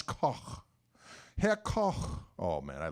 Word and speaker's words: Koch: Instead of Koch, Koch, Koch, Koch, Kichi, Koch. Doesn't matter what I do, people are going to say it wrong.